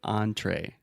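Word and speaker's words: entrée: have the word entree perfect example because you have the on in the beginning and the a at the end so entree that's the main dish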